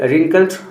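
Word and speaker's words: wrinkled: यह W silent है इसलिए इसे रिंकल्ड पढ़ा जाएगा।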